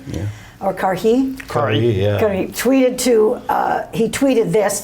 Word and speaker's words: Karhi: Communications Minister of the government, Shlomo Karhi, am I pronouncing that right? Yeah. Or Karhi? Karhi, yeah.